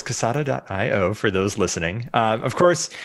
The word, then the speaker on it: Kasada: Am I pronouncing Casada? Just like the cigar company. Yes, Quesada. But less with a K. Spanish. It's a little more Russian K? with the K, not the Spanish K.